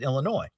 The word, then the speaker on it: Illinois: And he'd get so aggravated because I put an S at the end of Illinois. Now, I understand it's it's that's the correct way to pronounce it, Illinois.